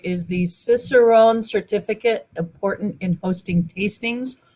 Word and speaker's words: Cicerone: says is the and I'm not going to pronounce it right this right is the Cicerone certificate important in hosting tastings or any other